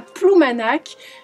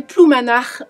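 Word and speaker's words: Ploumanac'h: En traversant la Manche, il arrive à Ploumanac, que vous prononcerez Ploumanach pour les puristes.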